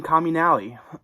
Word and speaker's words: Comunale: anyways um we have sinkhole by john wayne communality um that's how you say his name i